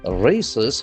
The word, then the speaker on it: raise: We can feel that letter S has got Z sound.